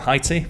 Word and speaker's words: Haiti: Haiti, or Haiti, depending on how you pronounce it, is a small island nation in the Caribbean region.